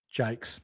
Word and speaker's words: Jacques: Artie Jones and Liam Jacques Jakes.